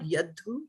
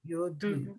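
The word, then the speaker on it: योद्धु: this is not yadhu, this is Yad. yod. It's a Oh, O, okay. right? Yod. Yoddhu, yeah. Yoddhu-kāmān avasthitān.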